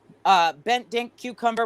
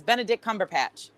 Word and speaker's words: Benedict Cumberbatch: Bent Dink Cucumber, whatever his name is, Benedict Cumberbatch.